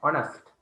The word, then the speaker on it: honest: honest නෙමෙයි h එක silent. h එක pronounce කරන්නේ නැහැ. honest.